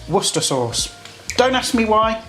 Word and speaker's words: Worcestershire sauce: american friends out there it's not worcestershire sauce it's pronounced worcester sauce don't ask me why